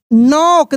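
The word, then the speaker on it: knock: Heard a loud L ओ यू D loud loud नॉक देखिए के silent है। एन ओ सी के को पढ़ नॉक एट his door D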